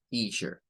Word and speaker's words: teacher: Bueno, eso significa, mire que la EA que se encuentra acá tiene un sonido de I, un sonido largo.